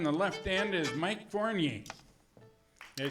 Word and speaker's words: Fournier: On that end down there, on the left end, is Mike Fournier.